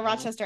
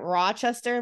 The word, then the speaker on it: Rochester: don't hear it, but I guess that means we have a broad A. So I guess other people say, I don't know how they say it, Rochester. We say like Rochester. So like Rochester. Yeah. Rochester. I guess that's our accent.